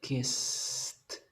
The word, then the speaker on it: kissed: Que si es suave el sonido, yo lo voy a pronunciar como una T. Kissed.